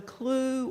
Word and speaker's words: CLUE: for economic justice and I always tell people the Jay is silent because how would it be if you said you were from Cluj that doesn't sound very good in any case um when